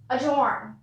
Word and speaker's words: adjourn: Next word is adjourn. Adjourn. Note one more thing. Adjourn is similar to adjective. We don't pronounce the D.